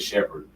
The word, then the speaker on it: Shephard: always, and my father, my last name is Shephard, not Sheppard, not Shepard. And it was spelled like that at one time during slavery, but when I got up north, and my family got it, it's Shephed, sheep herder, leader of the flock.